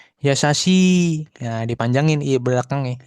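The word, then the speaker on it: やさしい: Nah, ini untuk yang suara panjang I juga sama ya kayak gitu ya. Yasasi. Nah, dipanjangin I belakangnya. Yasasi tuh.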